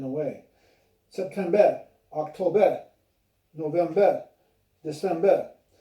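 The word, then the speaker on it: desember: September, October, November, December. So just remember, in the months, the R's are left out at the end of those months, except for January, February.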